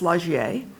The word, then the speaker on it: Lagier: I might have pronounced Lagier Meredith incorrectly. Is it? No, Did I? You pronounced it correctly. Of course, it's a French name, you know, and in France it's Lagier.